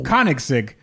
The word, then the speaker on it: Koenigsegg: I am name dropping here, and he says the name of the company is Koenigsegg. That's what he said.